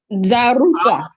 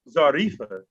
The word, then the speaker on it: Zaruf: Do you think if there's not an A at the end, why would you pronounce Zarifa? When there's not an I in it and there's not an A at the end of it? How would Z, because now it should be spelled ZARUF. Zaruf.